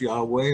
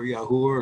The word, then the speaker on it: Yahweh: Elohim has only one name by his own admission, and that name is Yod He Vav He, usually pronounced Yahweh or Yahuwah or something similar.